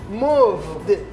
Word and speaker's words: moved: That is a voice you have to pronounce like moved with D.